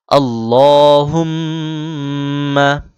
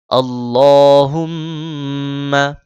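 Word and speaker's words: اللّهُمَّ: পড়ুন তাহলে আল্লাহুম্মা আল্লাহ মোটা করে হুম এখানে মিমে তাজদিদ হয়েছে গুণনা করতে হবে আল্লাহুম্মা আল্লাহুম্মা এখানে সরে অনস্বর এই উচ্চারণ করতে হবে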